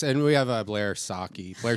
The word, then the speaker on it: Socci: And we have a Blair Saki. Blair Sachi. Saki.